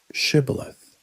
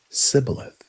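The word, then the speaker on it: shibboleth: we asked him to say one word, shibilith. It sounds simple, doesn't it? A word. But Ephromites couldn't pronounce it right. They would say cibilith.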